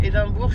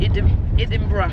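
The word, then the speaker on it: Edinburgh: dis dans mon blog c'est pas éedimbourg c'est Edinburg edinbur edinbur voilà donc du coup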